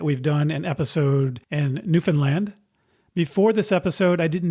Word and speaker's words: Newfoundland: or the island of Newfoundland by calling it Newfoundland, which I've learned since is not the correct pronunciation. So the correct pronunciation is Newfoundland, not Newfoundland, as I say in the interview.